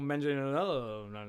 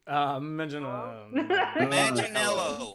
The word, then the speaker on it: Manganiello: Leto, Christian Bale, or Joe Manganiello.